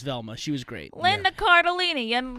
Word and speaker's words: Cardellini: Linda Cardellini. Your last name rhymes with tortellini.